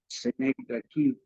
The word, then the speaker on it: synecdoche: It is technically what people call a synecdoche, Synechdeche, pronounced synecdoche, where you confuse the part for the whole or the whole for the part.